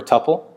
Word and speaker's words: tuple: means that it's now a tuple or a tupple pronounce two different ways to portal and the